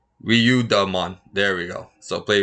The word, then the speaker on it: Ryudamon: What is Ruidra? Ryudamon? Yeah, that one. It's like another. Oh, there you go. Ryudamon.